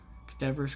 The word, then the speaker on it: cadaverous: Cadaverous Crypt. Wow, you actually pronounced cadaverous right.